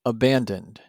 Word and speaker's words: abandoned: The past tense of abandon is abandoned. Abandoned also has 3 syllables.